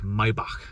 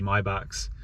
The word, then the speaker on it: Maybach: They pronounce it like Maybach, but yeah, like just rows of Maybachs, and like literally like dozens of them.